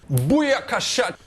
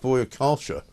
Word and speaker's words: Booyakasha: Boya Kasha. Who for some reason James Max seems to think is pronounced Boya Kalsha.